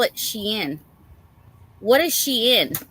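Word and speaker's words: Shein: Oh, and then um I I had to call my other daughter cuz uh I was like for anybody who knows about Sheen.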